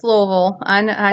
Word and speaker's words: Louisville: But the local legend that we have here, actually in Louisville, or Louisville, whichever one you want to No, pronounce it as. no, it's Louisville.